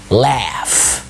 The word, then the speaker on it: laugh: كمان لما الاي بيبقى جاي بعدها اف زي laugh. واحد يقول لي laugh دي جي اتش بس بتتنطق اف، فبنقولها laugh.